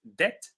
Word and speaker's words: debt: In the previous word the uh b was silent. So that word is pronounced debt.